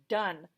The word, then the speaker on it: done: Now we have been learning about silent E. And silent E usually reaches around and makes this vowel say its own name. But this is an exception to the rule. I call it an outlaw word. It is done.